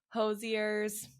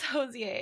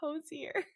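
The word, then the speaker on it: Hozier: again I think because someone was like it's French so it's like the French pronunciation I'm like I don't think he's Irish so like strongly Irish I don't know where the French pronunciation of this would come in and they're like no no no no it's josier and I'm like I think it's hoser I did watch an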